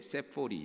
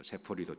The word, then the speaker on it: 세포리: 나자렛에서 바로 위에 세포리 영어로 되어 있죠. 영어로 발음은 세포리인데요.